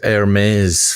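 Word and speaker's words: Hermès: feel reminiscent of the silent h in hermes yeah okay i asked anthony shore a linguist who develops guns yeah okay uh it's not hermes tres magustus the magician no it's hermes fancy shoes oh it's a shoe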